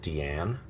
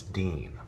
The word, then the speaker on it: Dean: how is your name pronounced your character's name pronounce Jensen is it deian and Jensen will have to say no it's Dean so in order to possibly simplify things and